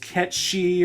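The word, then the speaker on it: Cait Sith: of Celtic descent and his name is supposed to be pronounced catchy or whatever hey when this game doesn't have voice acting and you play it for over 10 years it's hard to break old habits just because the internet says otherwise I still occasionally call Midgar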